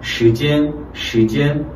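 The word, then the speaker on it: 时间: 중국말은 시간. 이 sh가 실제 권설음 발음입니다. 시, 혀를 말아서 천장에 닿지는 않고 중간 정도 위치에서 시 이렇게 시간, 성조 이성 살려서 시간, 이렇게 내가 시간이라는 한국말을 떠올리고 권설임이 가장 많이 오지.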